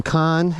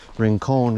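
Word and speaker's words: Rincon: to mount R Ranon we got to get the pronunciation right Ron Ranon is the right word ring con is wrong ring con anyway this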